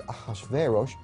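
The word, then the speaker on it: אחשורוש: Now that was hard for the Jews to pronounce, so they said Ahashverosh.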